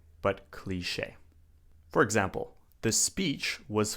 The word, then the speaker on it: cliché: And of course we have the word cliché. Cliché. When something is cliché, it means it's been done so many times that it's unoriginal, it's boring, it's overused. It's cliché. Now this is a French word.